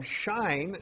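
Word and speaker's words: Shein: big list um from shine that have arrived and presumably in the mailbag for tomorrow since I think it's pronounced shine s-h-e-i-n was having a free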